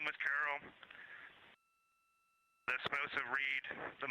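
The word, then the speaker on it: Carroll: Her name was Carol, the spouse of Reed, the mother of Katie and Ellie.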